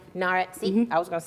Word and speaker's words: Nawrot: a say your last name again narat narat see I was going to say that I